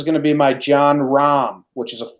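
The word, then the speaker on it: Jon Rahm: Rahm, that's how you pronounce it?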